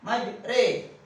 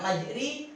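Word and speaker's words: مجراها: Majre, nggak majri, nggak majro. Pakai e.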